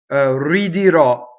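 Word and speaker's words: ridirò: And this is a non-typical stress ending on the last syllable.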